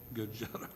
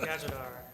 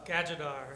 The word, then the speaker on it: Gajadar: Zoning manager, Gajar. I don't know, I can never get your name pronounced right. Gajadar. Huh? Gajadar.